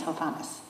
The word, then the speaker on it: Hovhannes: My name is Hovannis. In German is Johannes. In Arabic is. Yes, my name is Hovannis.